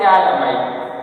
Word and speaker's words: phthalamide: So this is called thalamide. PH-THA amide. Thalamide. This PH is silent.